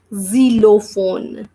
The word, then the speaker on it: xylophone: observe here we are reading this word is zero phone so the sound of X is the 0